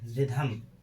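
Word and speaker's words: rhythm: जब किसी वर्ड के शुरुआत में क्या जब किसी वर्ड के शुरुआत में आर एच हो तो एच का उच्चारण नहीं किया जाता।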